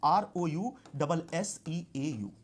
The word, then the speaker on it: Rousseau: It is pronounced as Rousseau but written as R-O-U-S-S-E-A-U.